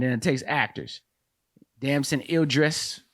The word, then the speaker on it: Idris: writer okay and then it takes actors dancing Idris right that's how you say his name damson